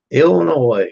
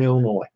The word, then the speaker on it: Illinois: Illinois, you don't pronounce that S. That's where I'm from. 8 hours south of Chicago, Southern Illinois.